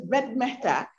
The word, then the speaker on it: Ved Mehta: I think that he mispronounced the name, but it was Ved Mehta.